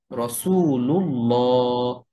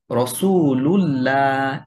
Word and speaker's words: রসুলুল্লাহ: যদি এমন হয় তাহলে আল্লাহ শব্দের দ্বিতীয় যে লাম, যেটার উপরে তাসদীদ এবং খাড়া জবর থাকে, সেই লামটা মোটা করে উচ্চারণ করে পড়তে হয়। যেমন নাসরুল্লাহ, রসুলুল্লাহ, আলাল্লাহ।